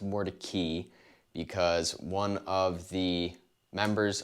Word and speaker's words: Mordecai: over to mordecai not more to kai more to key funny how that works but it is actually pronounced more to key because one of the